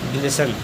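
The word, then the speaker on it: glisten: silent है अगला है जी एल आई एस टीई एन ई एन से पहले टी आया है तो साइलेंट है इसे पढ़ेंगे ग्लेसन अगला है बी ए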